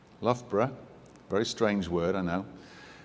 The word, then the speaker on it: Loughborough: a little bit about where i'm from loughborough pronunciation loughborough very strange word i know um is in